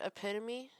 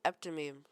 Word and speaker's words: epitome: But, you know the word epitome? Spelled, epitome? I pronounced it eptomeme.